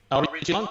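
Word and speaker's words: Aoriqileng: Arishi Long, I believe is how you say it. That was my best. Ben, tell me how to say his name correctly. Arishi Long, that was perfect.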